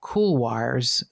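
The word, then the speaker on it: couloir: big boulder fields and something called kolars they spelled like Kier I looked it up at c u l o i r kolars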